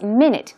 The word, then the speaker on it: minute: This word, it is spelled the same way as minute. 1 minute, 2 minutes, 60 seconds is 1 minute, but the pronunciation is minute.